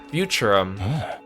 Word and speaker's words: Futurum: Futurum. That's the name of this planet. That's how it sounded pronounced in the local tongue, anyway.